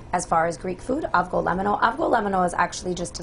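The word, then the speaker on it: Avgolemono: Okay, so I don't butcher the name of the soup. What is the name of the soup? Avgolemeno.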